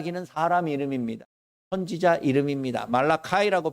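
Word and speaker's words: Malachi: 사람이 이름입니다 선지자 이름입니다 말라카 이라고 발음을 하지만 말라 키라고 우리는 그렇게 씁니다 말라기 도 의학의 선지자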